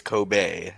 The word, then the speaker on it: Kobe: There it's Kobe.